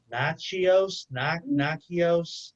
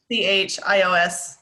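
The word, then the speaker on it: Natchios: Oh, I know this one, and I just can't pronounce it. It's like Nachios, like N-A-C-H, or N-A, there's maybe a T in there.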